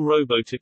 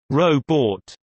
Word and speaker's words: robot: during the late 30s to early 40s, the second syllable was pronounced with a long O, like rowboat. By the late 50s to early 60s, some were pronouncing it with a short U, like robot, while others used a softer O, like robot.